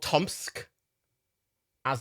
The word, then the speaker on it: TomSka: um we have also new today good old tomsk as is his formal name that's what he's doing